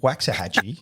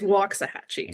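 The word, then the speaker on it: Waxahachie: say where you're from is it waxah Hatchy is that how you say it you were close you're close it is walk a hatchee walks a Get It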